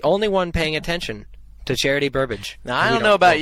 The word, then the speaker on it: Charity Burbage: He's scared at the sight of Charity Burbage. Is that how you pronounce the name? Yep.